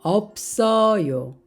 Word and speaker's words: 없어요: 소리가 됩니다 없다 없다 몸을 만나면 어떻게 될까요 없어요 앞에 있는 비읍 발음은 발음이 되고 시 옷은 모음 자리로 이동을 합니다 그래서 없어요 그런데 우리가 실제로 발음은 없어요라고 합니다 없어요 안다 안다 없다